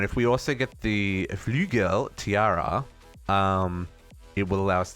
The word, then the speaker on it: Flügel: Pronounce. Flügel.